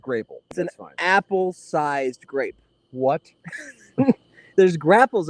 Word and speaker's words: Grapple: a grapple it's a it's pronounced grape apple sized grape what there's